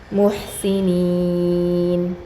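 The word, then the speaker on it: مُحْسِنِين: മുഹ്സിനീൻ ഹാൻ്റെ ഉച്ചാരണം കറക്റ്റ് വരണം കേട്ടോ. മുഹ്സിനീൻ.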